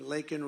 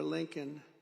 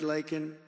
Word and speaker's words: Laken: And then he pronounced her name wrong. Remember, he called her Lincoln.